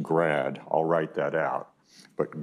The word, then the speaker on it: grad: is you've got this awesome upside down triangle symbol that is pronounced grad i'll write that out